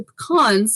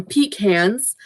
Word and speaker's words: pecan: i'm very allergic to pecans or pecans it depends excuse me it depends where in the world you're from i pronounce some pecans some people pronounce them peak hands i just weird but